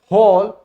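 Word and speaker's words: whole: हु, होल, हुज और इस तरह के बाकी के शब्द जिनके बारे में आपको पता होना चाहिए।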